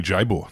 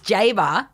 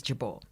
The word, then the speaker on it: Jabour: of your last name you've said it wrong both ways Jabor it's jaar jaar in Grafton in Grafton but the original pronunciation the Lebanese pronunciation and the one that I use now is jabal okay but I respond